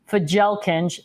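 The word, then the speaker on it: Fjälkinge: They're called, this is not how you pronounce it unless you're American, Fjalkinge, Fjalkinge.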